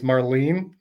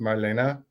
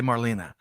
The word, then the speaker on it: Marlene: It's Marlene, but it's actually, it's German, so it's pronounced Marlena. Oh yeah. Okay. Happy birthday, Beautiful one way, and Marlene. she hates it the other. Happy birthday, Marlena, wherever you are.